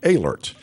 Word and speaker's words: Oehlerst: Julie alert it is it is spelled OAH le ort but it's pronounced alerts and dr.